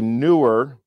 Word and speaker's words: NEEWER: This is a newer, and it's not that it's newer, it's pronounced, it's spelled newer.